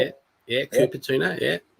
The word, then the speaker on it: Cupertino: Yeah, Cupertino, yeah. Cupertino campus following potential hazmat situation.